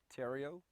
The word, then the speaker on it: Theriot: to do for me please state your name spell it also give me the title of your book tario t-h-e-r-i-o-t title of the book is American Energy